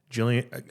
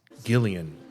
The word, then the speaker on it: Gillian: I was at um Jillian I understand now it's it's Gillian well she not I'm me saying I've been pronouncing the G with the soft J sound or whatever it's the whole GIF GIF um Gillian Welsh and